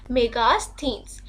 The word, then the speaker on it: Megasthenes: इसको Megasthenes भी बोलते हैं, इसकी proper pronunciation है Megasthenes।